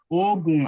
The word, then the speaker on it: Ogun: And yeah, it is long, Ogun, and the likes, so on and so forth.